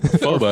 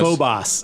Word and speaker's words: Phobos: Phobus. Phobos. And I was like, "Dude, get it right. You're a Marine." I know. They couldn't get Phobos right at all.